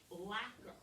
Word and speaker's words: lacquer: word is uh-huh it should be but it's pronounced lacquer lacquer is a clear paint or garnish that